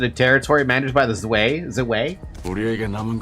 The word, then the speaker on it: Zwei: Is it Zwei or Zwei? Oh, it's Zwei then. If it's German.